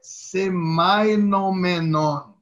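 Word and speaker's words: σημαινόμενον: Sim, mas antes eu queria só dizer uma coisa, pessoal, que eu estava certo mesmo, eu só não pronunciei muito bem. Significante é semainon e significado é semainomenon.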